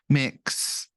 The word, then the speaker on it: Mx: up and discovered that mix MX yeah pronounced a mix has been suggested that's